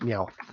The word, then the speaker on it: Meowth: ban Pokemon as I said it's yeah it's pronounced Meowth only Pokemon who can talk I think there